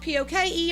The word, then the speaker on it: poke: where a brown paper bag was called a poke. I don't know if that's spelled P-O-K-E or P-O-L-K, but it's pronounced poke.